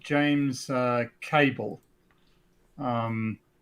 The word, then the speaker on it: Cabell: author called james uh cable um i always pronounce his name as cabell because it's c-a-b-e-l-l i